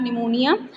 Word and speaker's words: pneumonia: She had pneumonia. So one of them, that is Johnsy, fell very seriously ill in November. She had pneumonia. So check the spellings of pneumonia, students. P is silent here.